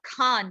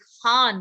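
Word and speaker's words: Khan: और एपिग्लोटल में आपने अगर my name is खान movie देखी है तो खान बार बार कहता रहता है कि इट्स नॉट खान, इट्स खान from the epiglottis.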